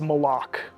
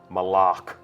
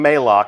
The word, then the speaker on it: Malok: absence has left uh and that is malok malok right official pronunciation confirmed so if you hear anybody saying Mao send them right here to the archive of this stream our design leaders told us it's malok we actually have a